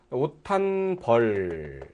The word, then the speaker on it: 옷 한 벌: 자, 발음은 오탄 이렇게 나오죠. 왜냐하면 시옷하고 디귿이 같으니까 이 시옷은 디귿 받침이 나죠. 그러니까 옷하고 디귿 받침이니까 당연히 거센수를 바꾸고 오탄벌 이렇게 나오죠. 오탄벌 이렇게 발음이 됩니다.